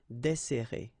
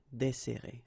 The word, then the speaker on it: desserrer: So we've got this double S, so it will open the sound of the here. That's the reason why I pronounce it like E. Desserrer, desserrer, okay?